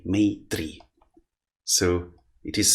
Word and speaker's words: Maitri: Maitri, Maitri. So it is spelled as M-A-T-R-I, like this, Maitri.